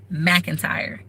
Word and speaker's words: McIntyre: entry mac entry note my name is mcintyre m-c-i-n-t-y-r-e-m that is how you pronounce it hello everyone but they call me